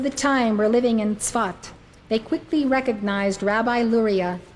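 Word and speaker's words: Safed: it is spelled sa Fe D but it's pronounced spot he arrived in the city of thought in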